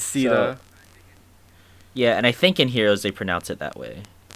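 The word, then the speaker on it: Caeda: I think in Heroes they pronounce it Sita, even though it's C-A-E-D-A.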